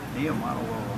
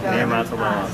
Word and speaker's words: Niumatalolo: Finally learned how to pronounce his name. Niumatalolo. Once you know it, it's not that bad. It looks a little daunting when you first see it. Yeah, you just follow the bouncing ball. Niumatalolo.